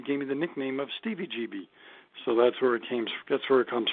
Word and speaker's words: Stevie GB: It's not Stevie GB. It's Stevie GB. Like, remember CBGBs in New York City?